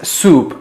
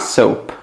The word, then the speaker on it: soup: soup so this is soup excellent soap bowl here but it's not soap it's soup okay the next word is